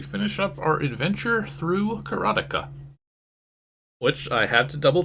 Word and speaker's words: Karateka: Dave 2 pointed out that it rhymes with erotica, and that seems to be correct.